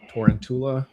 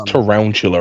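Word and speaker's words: Tarountula: out with the torrent torrentula. How do you say that? Is that how you say that properly? Uh I think it's tanchula right cuz he's round sense toula.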